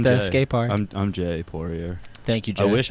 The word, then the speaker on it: Poirier: I'm Jay Poirier.